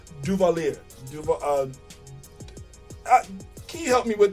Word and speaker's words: Duvalier: Duvalier. Can you help me with that? help me with it here. It's Duvalier. Okay. He just told me, and I forgot that quickly. All right. Duvalier.